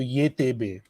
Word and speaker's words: YTB: YTB in English, and if you pronounce it in Turkish, Y is Ye, T is te, and B is be. So ye te be.